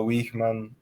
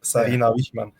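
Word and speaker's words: Wiegman: they've like obviously Serena Wishman. Yeah. Why am I even pronouncing that as if I don't speak Dutch? Like I really pronounce that like an like like in English, but it's like Sahman.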